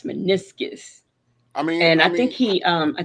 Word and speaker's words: meniscus: Hey, Blue Bear, but it's meniscus.